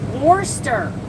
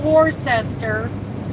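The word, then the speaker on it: Worcester: Warster. Warster. Not Warcester. Warster.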